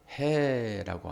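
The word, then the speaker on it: ה: 다섯 번째 글씨, 해라고 하는 아주 약하게 발음하는 단어입니다. 해.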